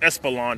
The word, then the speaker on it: Espeland: It's pronounced Espeland, of course.